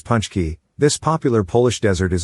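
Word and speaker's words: pączki: Pronounced as punchki, this popular Polish desert is a donut-shaped pastry filled with rose hip or stewed plum jam.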